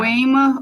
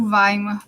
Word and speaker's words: Weimar: Weimar ou Weimar, tá, Sim. gente? São duas pronúncias possíveis porque não somos falantes de língua alemã.